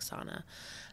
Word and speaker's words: SSINA: of the Nashua area ssina but we say it like Sana uh just because it rolls off the tongue nicely um and so that's